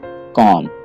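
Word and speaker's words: comb: यहाँ पे आपने बी को नहीं पढ़ना है, आप समझिए कि यहाँ पे बी है ही नहीं, तो इस वर्ड को आप सही तरीके से पढ़ पाएंगे। तो इसकी सही प्रोनाउंसिएशन है कॉम।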